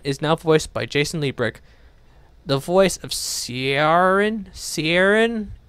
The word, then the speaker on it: Liebrecht: prove it a Tim him zoom up Jason Lee brick yep Lee brick I have to really announce this guy's name